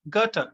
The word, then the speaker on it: Goethe: have the german writer goethe h e it is pronounced gutter in english and his work autobiographical